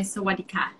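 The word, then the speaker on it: สวัสดีค่ะ: So different genders will greet differently. So for a woman, I'll say Sawadika. And I'll say Sawadikap. Sawadikap. You say Sawadika.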